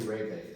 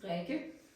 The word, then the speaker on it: Rikke: Actually, I think you should pronounce, because if I say reggae, it sounds like reggae music. Yeah. So can you please? My name is Rikke.